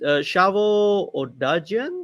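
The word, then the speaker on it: Shavo Odadjian: Yes, the bassist, Shavo Odajian. That's how we pronounce his name.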